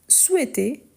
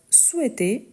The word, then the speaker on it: souhaite: Ensuite, on a nous, le verbe souhaiter une joyeuse fête à tous. Nous, le verbe souhaiter une joyeuse fête à tous. Parfait. Ici, surtout pour ceux qui sont anglophones, n'oubliez pas qu'on ne dit pas souhaite, mais souhaite avec le H muet.